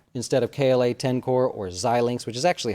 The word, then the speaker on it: Xilinx: Like we would just say CLAC instead of KLA Tencor, or Xilinx, which is actually how you say it.